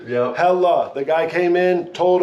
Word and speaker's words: Helle: Today we are talking about Hella. If you don't know Hella, they are a Norwegian brand, 4th generation family-owned company. Pause. Oh, Hella, not Helly. We all thought it was Helly. Yep. Hella.